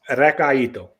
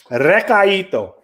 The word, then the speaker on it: recaito: No, it's Recaito. What? Recaito. Oh, right. That's how I pronounce it. Recaito. Recaito. I have been totally butchering that in my attempt to sound cool.